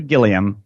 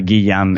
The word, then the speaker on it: Gilliam: It's not Gary Gilliam. You got to pronounce it correctly. It's Gary Gilliam.